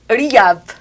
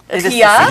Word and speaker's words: Rihab: Donc, le H est difficile de se prononcer. Il est difficile donc, pour nous, effectivement. C'est tout court, Rihab. Rihab, ce sera plus facile à prononcer.